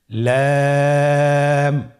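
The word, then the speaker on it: لام: পরবর্তী হরফ লাম। লাম হরফটি উচ্চারণের ক্ষেত্রে অবশ্যই বারিক হবে এবং তিন আলিফ টেনে পড়তে হবে। আপনারা আমার সাথে বলুন লাম।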